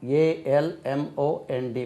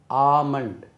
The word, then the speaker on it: almond: Almond, A-L-M-O-N-D, badam parappu, almond, that is not almond, almond.